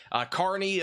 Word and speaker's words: Kearney: Thank you for pronouncing Kearney correctly.